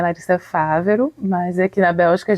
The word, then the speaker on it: Favero: mas as pessoas acham, Favero, mas o acento é no A, é Favero, mas enfim, não tem problema nenhum, pode pronunciar de qualquer forma.